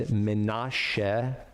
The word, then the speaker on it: Menashe: And Jacob comes from Canaan down to Egypt to see his son and to meet his grandchildren, Ephraim and Menashe in Hebrew, pronounced Manasseh in English.